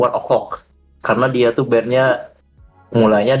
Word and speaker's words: ONE OK ROCK: Kalau untuk sekarang orang pada bilangnya One Ok Rock sih, tapi sebenarnya kalau pronounce yang benar tuh One O'clock.